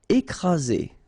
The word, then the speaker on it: écraser: Écraser. Okay, double vowel, only one S, Z, and then you've got the first accent aigu, écraser.